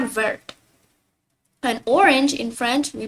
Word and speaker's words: orange: So like the AN in French we pronounce it as on instead of an, like in English. So it becomes orange. And once again the R you gotta pronounce it with your throat.